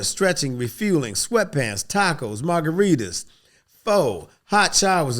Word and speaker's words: pho: refueling, sweatpants, tacos, margaritas, pho, hot showers. Is it pho or is it foo? I always say that wrong. Did I say it right, pho? Pho.